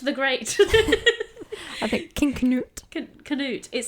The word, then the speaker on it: Canute: It's King Canute, I think. Canute. I think it depends on where you're from and how you pronounce it. I think you do pronounce the K.